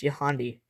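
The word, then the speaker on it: Yohandy: yandi Morales is pronounced yandi the H is silent in yandi now we're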